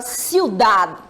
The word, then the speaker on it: ciudad: E aí, quando eu pronuncio ciudad, observem que dad é a sílaba tônica, não é isso?